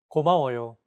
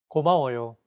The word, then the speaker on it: 고마워요: 고마워요. Individual. 고마워요. 고마워요. When pronouncing Korean words, focus on giving equal time to each syllable as you say the characters out loud.